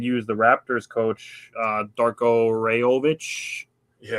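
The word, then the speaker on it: Rajaković: the Raptors coach, Darko Rajovic. Yeah. Basically, is close to how you say it. Ratkovic is how you say it, but I'll let you make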